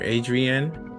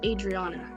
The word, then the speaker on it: Adriana: Was that Adriana or Adrienne? Adriana? Did I say it right? It's Adriana.